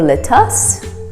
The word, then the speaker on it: lettuce: favorite greens lettuce lettuce we don't say lettuce or lettuce it's lettuce if you want to